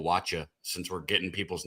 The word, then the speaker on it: Wacha: So, since just so you know, it's actually Michael Wacha. Since we're getting people's names right, he doesn't that's like. true. It's not Waka. He doesn't it's like Wacha.